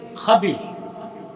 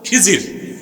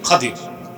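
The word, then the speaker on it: خضر: উচ্চারণটা কি? খাদির, বিফাতহিল খা ওয়া কাসরিদ দাদ, খাদির। তো আমাদের দেশের লোক বলে কি? খিজির। এটা ভুল উচ্চারণ, শুদ্ধ উচ্চারণ কি? খাদির।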